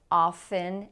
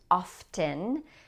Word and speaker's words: often: I'm sure you know that people say often and often. You can say it either way. I say often, and that is the more common pronunciation.